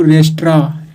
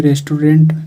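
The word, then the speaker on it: restaurant: सो इसलिए he went to रेस्ट्रा, ऐसे इसको रेस्ट्रा पढ़ते हैं, ऐसे रेस्टोरेंट सब बोलते हैं। सो इसलिए ही वेंट, वह गया, रेस्ट्रा यानी रेस्टोरेंट गया, भोजनालय। द सही प्रोनाउंस रेस्ट्रा पढ़ा जाता है।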